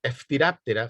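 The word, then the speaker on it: Phthiraptera: Eftiraptera, fíjense cómo se pronuncia el orden de los piojos. Eftiraptera, Eftiraptera.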